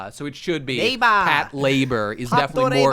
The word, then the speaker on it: Patlabor: in the late 90s, patrol and labor fuse into Pat labor. It's the very first dialogue. So. Anybody saying Patlabor probably hasn't watched it. It is incorrect.